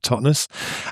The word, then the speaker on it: Totnes: in, the southwest of England, whose name you pronounced correctly. Thank you very much. The town of Totnes.